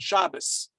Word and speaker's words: Shabbos: We're not going to make that distinction, but that's where you hear in Ashkenazic pronunciation synagogues the S sound, Shabbos. Because in Ashkenazic Hebrew, with a dot, it's pronounced as a T. Without a dot, it's pronounced as an S.